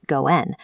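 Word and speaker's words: 五円: In Japanese, 5 yen is pronounced goen, a linguistic pun for auspicious connection or a good fate.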